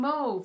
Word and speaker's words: mauve: Most Americans say mauve. That is not the correct way to pronounce that word. If you watch anybody on YouTube in the UK, they always say mauve and they are saying it correctly.